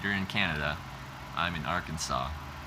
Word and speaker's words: Arkansas: I'm in Arkansas. Right? I don't pronounce the S on the end, right?